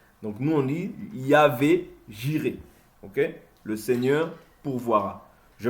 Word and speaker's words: Jireh: Ils disent Yireh, mais le Y, nous on le prononce J. Vous voyez? Donc nous on dit Yahvé Jireh.